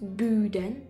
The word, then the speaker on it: boudin: Pronounced boudin.